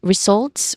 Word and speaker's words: results: Continuing, we get the next word, results, which has two syllables. We stress on the second syllable here. The first syllable is results. Not re, but re. Wait, analyze the results. Yeah, re. It's a short E vowel sound. It's soft and quick. The second syllable is salts. So not salts, but zolts. So it starts with a buzzing sound, with a letter Z sound, with a voiced sound. And then it has a soft and quick vowel sound